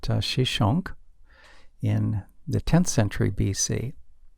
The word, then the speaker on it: Shishak: Another major military conflict involved Pharaoh Shishak, whose name is pronounced Shishonk, in the 10th century BC.